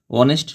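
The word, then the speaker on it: honest: সেন্টেন্সে হি is dash অনেস্ট person তিনি একজন ব্যক্তি এখানে অনেস্ট শব্দটি এইচ দ্বারা শুরু হয়েছে যার উচ্চারণ নাই তাই এখানে এন হবে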